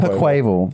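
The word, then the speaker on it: Quaquaval: Quackleval.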